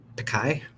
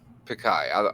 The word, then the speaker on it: Pichai: So from a note from Google and Alphabet CEO Sundar Pikai? Pichai. I don't want to Pichai. mispronounce that.